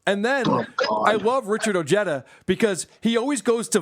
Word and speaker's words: Ojeda: Oh, by the way, it's Ojeda. Ojeda. It's a Hispanic name.